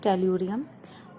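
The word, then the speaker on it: Tellurium: ओ से oxygen, S से sulphur, से सेलेनियम, टी से टेल्यूरियम, यानी कि टी से इसकी प्रोनाउंसिएशन है टेल्यूरियम, एंड द पो से पोलोनियम।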